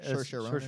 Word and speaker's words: Saoirse: Good pronunciation of the name too. It's a tough name to say. It's right. Saoirse Ronan.